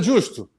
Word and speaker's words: Giusto: Sabrina Justo, quanto tempo, hein? Prazer. Justo, gostei do sotaque italiano, pronunciou bem o acento.